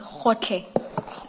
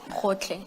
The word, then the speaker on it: Gotlhe: It's Khotle. Khotle. Thank you, thank you. Maybe Ms. Hassim, it may have to be spelled for the transcript. Thank you. And that's spelled Gotlhe. Hotle.